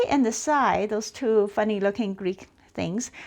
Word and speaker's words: psi: is pronounced phi, and the second one is pronounced psi.